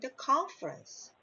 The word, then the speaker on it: conference: because it's trust okay if it's not stressed and it becomes a schwa yeah like confirm because it's not the stressed syllable so in this case we pronounce it like this James conference okay that's right now